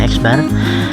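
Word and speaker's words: x̄: Hai Putra lambang Mi adalah x bar membacanya eksbar didapat tidak direbus Hikmat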